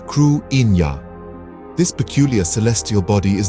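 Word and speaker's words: Cruithne: object orbiting the Earth they dubbed it kutna pronouncing it as KW Ina this peculiar Celestial body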